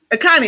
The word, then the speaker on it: Akanni: Once a month, we're going to bring on to talk about, pronounce the last name. Akanni. Akanni, I was right.